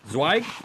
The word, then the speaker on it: Zweig: His name is David Zweig. I think I said it right, my friend, David You got Zweig.